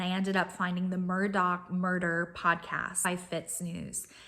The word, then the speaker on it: Murdaugh: her it's pronounced elik Murdoch I think I'm saying that right so not Alex but elec and not murder but Murdoch I guess it's some local accent thing I know it sounds